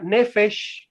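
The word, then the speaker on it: נפש: Bueno, así como suena, Nefesh con SH.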